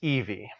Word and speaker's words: Evie: The story follows twins Jacob and how would you pronounce this? Evie or Evi? Let's see here. I would pronounce that Evie.